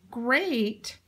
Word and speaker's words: great: has the e sound great great has the EA but it sounds like a long gay great so it's another odd